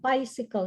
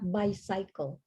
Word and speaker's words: bicycle: idea okay just quickly bicycle not by cycle so don't might like it all right yeah because i always not always but some of you would pronounce it like two words by cycle but it's it's like bicycle bicycle okay bisecting bicycle okay